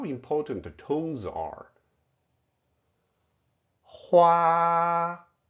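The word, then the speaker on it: 花: Hua, huar, flowers. Besides the huar given to girlfriends, the beautiful patterns on latte coffee are also huar, hua, huar, painting.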